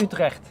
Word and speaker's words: Utrecht: And Utrecht, with a T at the end.